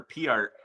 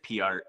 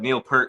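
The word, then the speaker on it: Peart: Is it per or P art? It actually is PR, but he said, but Neil Per said that so many people mispronounce it that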